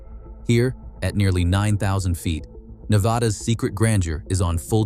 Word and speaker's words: Nevada: Say it with a short A. Pronounce Nevada with the vowel in the second syllable like the A in cat. Do not use a broad ah sound. One vowel is all it takes to separate locals from outsiders.